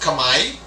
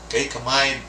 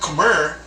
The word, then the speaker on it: Khmer: have the kamai empire it's pronounced kamai just like your hand kamai not khmer and it's found in